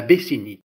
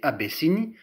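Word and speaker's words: Abyssinie: de la bessinie rimot c'est pas à bessini mais à bissini a corrigé colia second dos ça peut s'écrire abesseni ou abicini mais je trouve ça plus correct d'écrire et de prononcer abessini puisque ce mot provient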